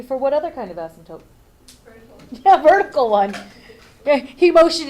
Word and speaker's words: asymptotes: my typo the word asymptotes has a P in it you will never hear this when it goes to the bathroom because the P is silent but it's there I